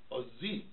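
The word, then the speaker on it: עזי: Not O and Z, but Oz-Z. Ozi.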